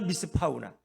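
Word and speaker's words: מִשְׂפָּח: 그러니까 발음이 너무 비슷해. 미시파트나 미스파우나.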